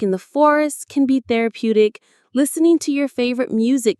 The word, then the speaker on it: therapeutic: And there is our next key word, therapeutic. Let's say it. Therapeutic. Therapeutic. The stress is on that third syllable, therapeutic.